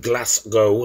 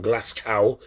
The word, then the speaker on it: Glasgow: he was born just outside of Glasgow not Glascow as some of you Americans pronounce it but yeah tonight we